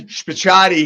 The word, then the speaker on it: Spicciatie: Anyway, we've got Spicciatie here.